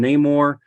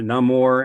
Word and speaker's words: Namor: antagonist of the film Namor um or no more as it's pronounced both ways uh in the comics